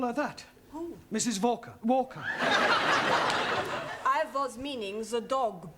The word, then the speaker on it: Walker: at Mrs Walker Walker what that W is pronounced your employer's name is Walker yeah volca do you know how many shirts Mrs Walker made me iron last night walker yeah then I had